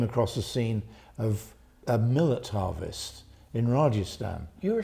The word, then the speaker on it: Millet: And to me, that just shouted out a classical painting that I knew that coincidentally is by Millet. It's spelt exactly the same way as millet.